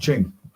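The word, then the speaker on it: Qing: taii declared himself the first queen of w pronounced Ching in Manu Emperor although his tury was still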